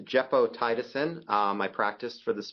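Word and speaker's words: gepotidacin: move on to a novel antibiotic it is pronounced jeo tiisin um I practiced for this talk specifically um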